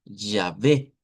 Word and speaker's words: Yahvé: pensamos en el hebreo, en el hebreo transliterado a nuestro alfabeto se escribe Yahvé con y ya. Yahvé.